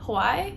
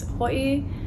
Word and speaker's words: Hawaii: One way to say it is Hawaii. You can also say Hawaii.